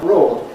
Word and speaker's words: broad: So you might think that broad and road rhyme, but they don't. Broad it is a broad rod. Well, perhaps we can work out what you mean. But it's wrong. That word is not broad. They don't rhyme with one another. They have different sounds.